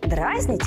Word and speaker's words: дразнить: Дразнить или дразнить? Спойлер, в обоих ударение падает на «и».